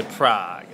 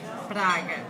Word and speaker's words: Prague: We say, Americans say Prague. Okay, Prague. In Portuguese, Brazil, we say Praga. Praga.